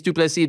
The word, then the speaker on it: Du Plessis: Dricus Du Plessis. The S is silent.